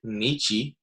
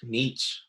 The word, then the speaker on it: Nietzsche: This is part 2, and particularly we're going to talk about Friedrich Nietzsche, or Friedrich Nietzsche, depending on how you want to pronounce it.